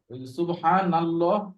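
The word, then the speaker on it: سبحان الله: আর সুবহানা না, নুন জবর। জি তাই দুইটাই হচ্ছে মোটা হবে।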